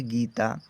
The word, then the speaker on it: गीता: Next है GEETA पढ़ेंगे गीता। जी से गा हुआ, डबल ई का मतलब बड़ी की मात्रा, टी से ता और ए का मतलब बड़े आ की मात्रा। हमने लिख दिया गीता।